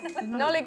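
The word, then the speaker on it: Nollaig: Nollig, I said that.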